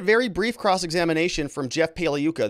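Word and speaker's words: Pagliuca: brief cross-examination from Jeff puka the g is silent like lasagna he's out now all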